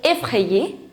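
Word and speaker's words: effrayée: The pronunciation is same, but here we are going to add an extra E to make it feminine. So, effrayé, effrayé.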